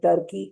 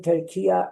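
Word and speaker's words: Türkiye: In these days, saying Turkey is a wrong pronunciation. Saying Turkiya is the right pronunciation.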